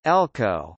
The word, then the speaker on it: LCO: In Wales, a legislative competence order (LCO), pronounced Elco, was a piece of constitutional legislation in the form of an order in council.